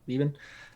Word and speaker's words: Leben: How do you pronounce that? Leben.